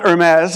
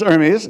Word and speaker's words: Hermes: And some people were pronouncing it like the French Thai company rather than Hermes. So it's not Hermes, it's Hermes, you know, but uh uh we had we didn't have really salient symbols.